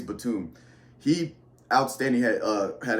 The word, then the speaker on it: Batum: rebounds six assists uh I can always butcher his name Nicholas btim I think that's how you say it Batum I think it's Batum he outstanding had uh